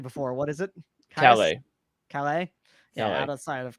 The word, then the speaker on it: Calais: Specifically, Alex, you pronounced it correctly before. What is it? Calais.